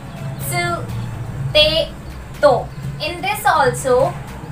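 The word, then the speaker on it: つ: Ta, chi, tsu, te, to. In this also, these two are exceptions. Ta, ti नहीं होगा, ये होगा chi. Chi, ti नहीं होगा, ये होगा chi. Next exception is tsu. Tu नहीं होगा, सु होगा।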